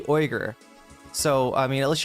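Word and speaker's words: Uyghur: Most people say Jin Yuger or Unger or something like that. It's actually Oer.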